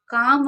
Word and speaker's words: calm: काम अगर लिखा दिखे CALM तो इसमें एल साइलेंट रहता है।